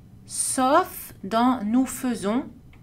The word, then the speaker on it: faisons: Attention à une exception dans laquelle A plus I est prononcé E. Exception à savoir, nous faisons.